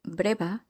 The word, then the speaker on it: breva: You may have noticed that both the B and the V consonants in the word breva are pronounced as a B.